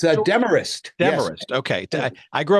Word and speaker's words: Demorest: I believe the town is pronounced as a Demorest. It's a Demarest.